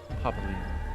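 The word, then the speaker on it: Papalymo: Papalimo. That's how you pronounce it.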